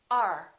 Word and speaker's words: our: at this one our we don't say this is our house we say are this is our house